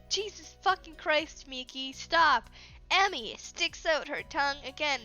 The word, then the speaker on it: Emi: Emily, Jesus fucking Christ, Miki, stop. Emmy sticks out her tongue again because this is Emmy and her name is spelled E-M-I. There's no L.